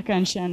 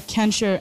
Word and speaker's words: Kanchan: many of you think my name is a Kanchan not a can sure any other pronunciation you